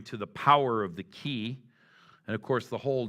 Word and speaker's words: qi: systems um rely on something that the Chinese call the power of the key and the way you spell that is q i and so you might